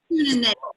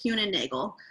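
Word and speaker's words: Kuehne+Nagel: How do you spell it? I'm sorry. Kuhn and Nagel is what I believe how you pronounce it. Kuhn and Nagel.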